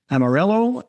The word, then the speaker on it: Amarelo: So if you're listening to this, you guys, is spelled a little bit differently. Amarelo, Amarelo.